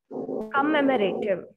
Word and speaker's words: commemorative: could you please tell me could you please pronounce this word comment you commemorative commemorative exactly commemorative and here uh you just